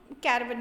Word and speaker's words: caravan: Okay, इसको मतलब इसका प्रोनाउंसिएशन ही कारवां होगा, लेकिन हम लोग ब्रिटिशर इंग्लिश अगर फॉलो करेंगे, ब्रिटिश इंग्लिश, तो हम इसको कैरावन पढ़ेंगे.